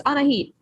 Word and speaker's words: Anahid: Anahid? Close enough. It's Anahid.